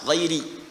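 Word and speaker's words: غيرِ: ghairil magdubi alaihim waladin qal jumhuru giri bil jar mayoritas ahli qiraat membacanya menggunakan kasrah giiri i ya giri alati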